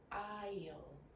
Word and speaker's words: aisle: Now notice that this is one of those words that has letters that you do not pronounce. The S in this word is silent. So the correct pronunciation is aisle, aisle.